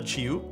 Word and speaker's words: JiU: So this, Tim told me this is pronounced like a J and also like a CH, so it's called the JiU.